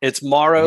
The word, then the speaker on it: Morrow: No, it's Morrow, like okay. tomorrow.